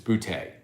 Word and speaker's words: Boutte: It's Boutte. Boutte is how they do it.